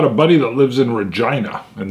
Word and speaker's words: Regina: Now, I've got a buddy that lives in Regina, and that is how they pronounce it. It's not Regina.